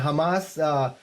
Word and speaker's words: Hamas: Everybody talks about Hamas. And by the way, the pronunciation is Hamas, not Hamas. The pronunciation is Hezbollah, not Hezbollah.